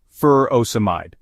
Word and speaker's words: furosemide: of taking the medication furosemide or Lasix is pronounced fur oide it is a loop diuretic used to treat